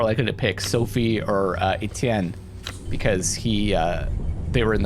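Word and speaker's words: Étienne: pick Alexander really yeah Etienne you're saying it right it just sounds right okay I feel like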